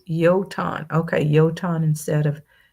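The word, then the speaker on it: Jötunn: Uh, Golden Leopard said it's actually pronounced Yoton. Okay. Yoton instead of Joton.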